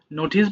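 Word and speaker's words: notice: দেখো আমরা সচরাচর নোটিস বলি, বাট যেহেতু ট এর উচ্চারণ আমাদের ঠ এর মতো করে বলতে হয়, সো তোমরা একটু পড়ার সময় এই যে ঠ বলা আছে একটু খেয়াল করবা।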